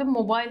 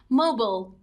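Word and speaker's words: mobile: یه نکته خیلی مهم در مورد موبایل هستش، توی بریتیش انگلیش شد موبایل ولی توی امریکن انگلیش تلفظ درستش هست موبل.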